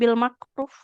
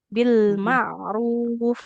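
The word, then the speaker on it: بالمعروف: Jangan bil makruf. Bil ma'ruf. Bil. Nah. Oh, Jadi makrotnya itu di tenggorokan bukan di pangkal lidah.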